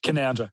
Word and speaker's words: Canowindra: Canowindra. That's how you say it. Okay, Canowindra.